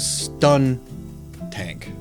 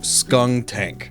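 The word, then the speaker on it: Skuntank: I always want to say it's stun tank. Is it stun tank? I might be doubting my own memory. Hang on. Okay. Yes, it is skunk tank because it's a skunk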